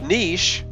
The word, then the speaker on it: niche: saying garage though with niche the American niche version matches the French quite neatly while the British style rhymes with inch with banal the long-standing